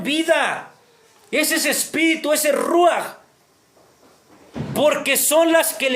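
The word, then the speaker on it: רוּחַ: En hebreo se pronuncia ruach, ¿verdad? El ruach, que es el aliento de vida, el espíritu de vida.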